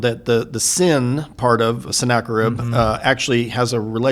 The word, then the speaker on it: Sennacherib: He is a Assyrian king, and again, none of us can claim to have pure pronunciations, but Sennacherib is the way I have heard it, and it'll work. So, close enough.